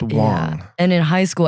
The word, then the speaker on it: Wang: It's It's pronounced spelled Wang, but pronounced Wong.